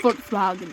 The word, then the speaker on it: Volkswagen: Volkswagen is how it's actually pronounced.